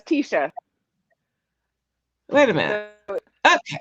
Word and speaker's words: Tesha: It's Tia, right? No, it's Tesha.